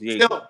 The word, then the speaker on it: Yegor: Yeah, no, it's pronounced Yegor. He's still a You heard? raw prospect. You heard? Huh? Yeah, where he from is pronounced Yegor. Oh, it's Yegor.